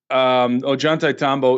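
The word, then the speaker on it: Ollantaytambo: and very few people know how to really pronounce it but it is Ajanta Tombo is one of the best examples of cyclopean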